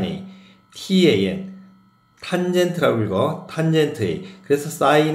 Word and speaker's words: tan: 그래서 sin인 a 그다음에 cos 코사인이라고 는다고 코사인 a tan 탄젠트라고 읽어.